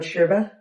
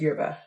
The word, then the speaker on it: yerba: Um, a friend I made while traveling, he told me that in Argentina it's called sherba. Um, but if you go to Chile or other Latin American countries, it's pronounced yerba.